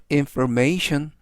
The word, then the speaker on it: information: 뜻이 되겠습니다 이번 단어는 information information 이라고 발음하시면 되겠구요 이때 강세는 뒷부분에 있는 알파벳 a의 강세가 있습니다 그래서 information이라고 발음하시면 좋겠구요